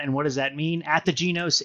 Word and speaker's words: Ategenos: Ategenos is the Gaelic word for rebirth.